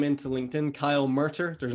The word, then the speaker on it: Murtagh: do you spell that gh at the end that is tricky at least for me